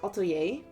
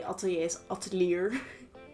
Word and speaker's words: atelier: in the word but that's not how you say the word and that is auto yay but I always say altoieslier because that's how you spell it alier is how you spell the word but it's not how you say it and for a really